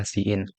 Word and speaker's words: cin: Jadi bagus untuk diketahui bahwa cout itu dipronounce cout dan cin itu dipronounce-nya adalah cin.